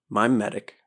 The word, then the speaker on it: mimetic: Mimetic theory is M-I-M-E, like mime.